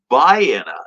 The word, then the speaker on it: Vienna: germany uh or vienna sausage but it is pronounced by anna and i pronounced it wrong one time and i caught hell the whole weekend for it i really did because i was in metropolis and bayenna is only about 15 miles away and then